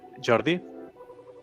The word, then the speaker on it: Jordi: Next up, we have um I don't know if I'm pronouncing correctly, Hordi or Jordi from Union Avatar. So, welcome. Welcome. Hello. Hello everybody. Yeah, my name is uh Jordi.